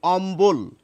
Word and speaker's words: অম্বল: ফলা রয়েছে শব্দটিতে দেখুন ব এর উচ্চারণ কিন্তু আমরা করছি আমরা কিন্তু অম্বল বলছি না আমরা বলছি অম্বল কম্বল সম্বল এই শব্দগুলিতে